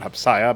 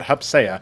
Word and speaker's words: Hupsea: I was actually talking with Hupsea about this, and that is apparently how you say his name, not Hupsaya, but Hupsea.